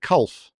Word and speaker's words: Culf: So, do I pronounce it Culf? Yeah, that's right.